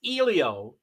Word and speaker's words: Elio: But it's Elio is the way to pronounce it.